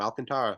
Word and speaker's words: Alcantara: How is it? I did I say it right? You said it right the first time, Alcantara.